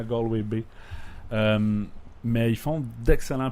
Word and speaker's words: Galway: Donc, Galway, qu'on dit Galway, mais c'est Galloway, mais on la prononce Galway, qui est une ville complètement de l'ouest, 3e ou 4e ville en importance au pays.